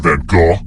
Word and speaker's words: van Gogh: Which famous painter was roommates with Vincent van Gogh? Yeah, that's how you pronounce his name.